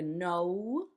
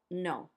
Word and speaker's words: no: Notice that the no is different because you make like a no in English, and in Spanish it's just no. No.